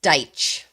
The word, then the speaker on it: Deitch: It's Deitch.